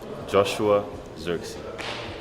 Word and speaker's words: Joshua Zirkzee: hi this is how you say my name Joshua xery of course we don't just sign players we